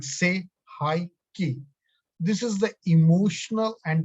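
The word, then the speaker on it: Sei He Ki: So say hi ki, say hi ki. Second, after chokure, second symbol of Reiki is say hi ki. So the second symbol is say hi ki, pronounced like say hi ki.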